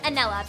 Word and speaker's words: Anella: I'm going with Anella because it rhymes with vanilla.